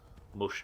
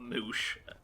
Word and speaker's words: mush: Mush, not moosh.